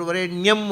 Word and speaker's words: ವರೇಣ್ಯಂ: ಹೇಗೆ ಅಂದ್ರೆ ಗಾಯತ್ರಿಯಲ್ಲಿ ಬರೆಯುವುದು ತತ್ಸವಿತ್ರ ವರೇಣ್ಯಂ ಅಂತ ಹೇಳುವುದು ವರೇಣಿಯಂ ಅಂತ ವರೇಣ್ಯಂ ಅಂತ ಬರೀಬಾರದು ಯಾಕೆಂದರೆ ವರೇಣ್ಯ ಶಬ್ದ ಶಬ್ದ